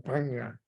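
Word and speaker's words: paññā: O sea, pero la ñ en pali es nasal también, o sea, que hay que pronunciarla como que saliendo aire por la nariz, o sea, que sería algo así como paña.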